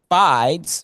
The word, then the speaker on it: Fides: Fides, right? Let me Let's see. Or let me let me just see how it's pronounced. It look like f like bonafide.